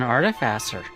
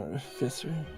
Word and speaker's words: artificer: character even was an artifacer. It's pronounced fisser, you swine. No, no, no. She she was an artifacer. She was an artificer.